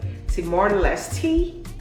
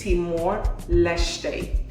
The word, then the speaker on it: Timor-Leste: The first time I saw this, I was like, Timor-Leste. But according to Google, it's Timor-Leste.